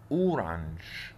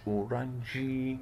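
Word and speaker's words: orange: اورانج، هي موجوده اهي، ما قلتش اورانجي، لا لا اورانج بس.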